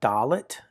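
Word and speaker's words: dalet: Now, the fourth letter in the alphabet is a dolllet.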